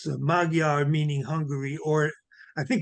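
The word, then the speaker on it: magyar: adjective of from Hungarian in Hungarian that's pronounced modar the uh the uh a comes out like a u and the gy in Hungary is a d the letter d as in David well I'm glad I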